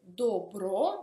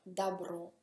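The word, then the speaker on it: добро: Anche qui si scrive dobro, ma si pronuncia dabro, il bene.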